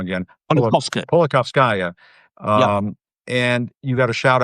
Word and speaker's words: Politkovskaya: journalist, Anna, and I'm going to say her name wrong again, Politkovskaya.